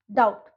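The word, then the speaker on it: doubt: तो उन बी को हम लोग साइलेंट वर्ड्स में साइलेंट बोलेंगे, उसको हम प्रोनाउंस नहीं करेंगे। Bomb, com, that, डाउट।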